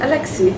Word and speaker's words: Alexei: Alexei. Yeah, but his full name? Alexei Mikhailichenko.